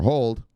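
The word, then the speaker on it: HODL: now fuels kick him in look look buying huddle or hold yes how you're supposed to say it like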